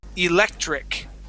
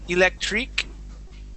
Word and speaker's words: electric: We're going to go to electric. Okay, so we want to stay away from that electric. Okay, that E sound at the end. Treek. We want to say trick.